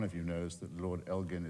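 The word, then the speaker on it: Elgin: And if I've done nothing else I'm sure now every one of you knows that Lord Elgen is pronounced with a hard G.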